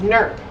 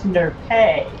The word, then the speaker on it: Nerpay: so, we're going to begin with Nerp. Am I pronouncing that right? It's Nerpay. Nerpay.